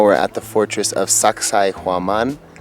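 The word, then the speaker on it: Sacsayhuamán: at the fortress of Sacsayhuaman. If you can't remember how to pronounce it, just think, sexy woman. Yeah, but it's a Quechua word.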